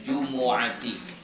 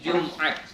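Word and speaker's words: جمعة: Bab apa-apa yang dibaca pada pagi Jumat. Ya. Membaca Jumat dalam bahasa Arab itu bacanya bukan Jum'at, tapi jumu, ya, jumu'at, ya, mimnya baris depan, jumu.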